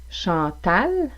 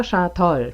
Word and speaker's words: Chantal: Chantal, Chantal en syllabe fermée, est toujours prononcé avec un A. Vous n'entendrez pas Chantol, par exemple.